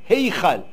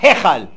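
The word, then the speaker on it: היכל: Tserei, c'est 2 points, ça se prononce, c'est comme un E allongé. C'est Ei. Eichal. Heichal. Pas Hechal.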